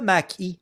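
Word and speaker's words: Mach-E: Prononce-le Mac-E.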